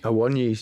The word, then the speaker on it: Awoniyi: How do you pronounce his name? Awoniyi? Awoniyi.